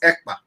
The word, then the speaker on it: Ekpa: And my name is not Akpan. My name is Ekpa.